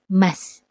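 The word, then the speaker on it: ます: Tulisannya masu, tapi dibacanya mas. Karena pengucapan u dalam bahasa Jepang lemah. Sama seperti des yang ditulis dengan desu.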